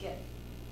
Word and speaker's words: GIF: I've heard it pronounced different ways, but It's GIF, That's a GIF, meme. GIF. GIF, The because creator says GIF. the Logic G says is, GIF. the G stands for graphics, so it's G, it's graphics, it's GIF.